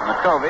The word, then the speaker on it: McCovey: All during his minor league career, this fellow was called McCovey. That's the way he pronounced it, McCovey. And when he got to the major leagues with the Giants, everybody called him McCovey, so he said, all right.